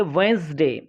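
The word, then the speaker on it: Wednesday: चलिए, ये इसमें वेडनेसडे, इसको हम पढ़ेंगे वेंसडे, क्योंकि इसमें डी साइलेंट है।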